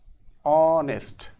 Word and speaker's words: honest: Dash honest man okay let's pronunciate it in Bangla honest so this H starts with a vow sound w w is a